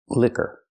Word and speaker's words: liquor: And this word is pronounced liquor. It's two syllables. Put the stress on the first syllable. Liquor. Use a short sound like this. Is llick. liquor and the sound like in burger.